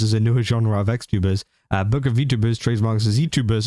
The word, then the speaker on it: XTuber: Rima's talked about it as well, saying Japanese VTuber agency Pandora has trademarked XTuber as a new term for a so-called next generation style of VTuber. Pronounced crosstuber, the idea is to have creators active both